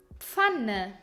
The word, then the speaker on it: Pfanne: Every time you see P, F, you pronounce it gently as pf and not like an angry pf. For example, Pfanne, Pan, Apfel, Apple, Pferd, horse.